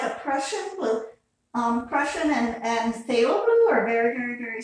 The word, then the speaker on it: phthalo: It's actually says green shade phthalo blue, and phthalo starts with a PH, but it's pronounced like a TH.